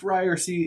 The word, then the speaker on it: Ryerse: not name it after myself right so it's pronounced ryersy is going to be a podcast that will